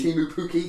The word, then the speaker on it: Pukki: And to give my pronunciation, Timu Pukki. Timu Pukki, thank you very much.